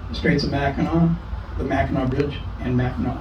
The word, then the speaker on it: Mackinac: And but everything else is, even though it has a C, it's always pronounced as if it was a W. The Straits of Mackinac, the Mackinac Bridge, and Mackinac Island. So if you say Mackinac, you automatically identify yourself as a tourist.